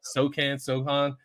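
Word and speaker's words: Sochan: You can go to Jeremy Sohan. Is that how you say his name? Yep, yep. Sohan.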